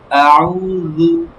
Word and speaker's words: أعوذ: দেখেন, আউ পেশের উচ্চারণ সর্বদা ঠোঁট গোল হবে, আর রু জিহ্বার আগা থেকে পাতলা হবে। রু, রু, জু হবে না, হ্যাঁ, খেয়াল রাখবেন। হুম। আউযু, আউযু, আউযু, হ্যাঁ।